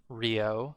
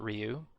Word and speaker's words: Ryooo: here are david w and rio it is pronounced rio and not ryu because uh french so all right technically it